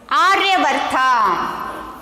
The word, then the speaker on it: Aryavarta: Okay, how to pronounce this? Sapta Sindhu. And next, see here, 10th one, Aryavarta.